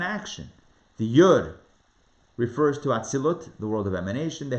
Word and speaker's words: Atzilut: Could pronounce it Atzilus or Atzilut. To be consistent, I'm going to go with the T ending.